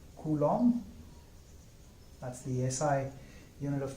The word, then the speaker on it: Coulomb: micro Coulomb or eco coulombs or nano kuno and interestingly it's pronounced Coulomb with a silent B its Coulomb and not cool um or something like that